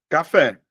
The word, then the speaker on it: café: Se você olhar, ó, café, a sílaba mais forte, ó, um, dois, a sílaba mais forte está em dois. Por este motivo eu vou dizer que ela é uma palavra oxítona.